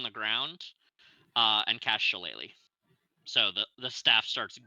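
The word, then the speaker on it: shillelagh: that staff on the ground uh and cast shalele so the the staff starts glowing uh with a purple phosphorescence you didn't say it right shalele there you go uh and another more Bounder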